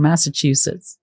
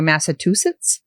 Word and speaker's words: Massachusetts: Ma, because I always hear Massachusetts. Oh, nice. And it's massa chew like you would with your food, right?